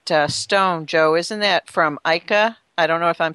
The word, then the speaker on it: Ica: Well, a lot of the stones from Ica, Peru is how they pronounce it, at least that I heard.